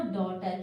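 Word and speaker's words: daughter: अब और उसके बाद में जी एच कही जाए तो साइलेंट है। उसके बाद में अगर पूरा पढ़ी जाए तो डॉटर।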